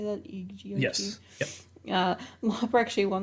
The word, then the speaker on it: EGOT: EGOT, I guess is how you say that. EGOT.